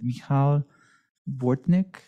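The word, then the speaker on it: Michał Bortnik: Our next speaker is named, I apologize in advance for pronunciation, Michal Bortnik. You may now speak. Thank you for such a great pronunciation. Good evening, everyone. So my name is Michal Bortnik, and I feel personally vested in this project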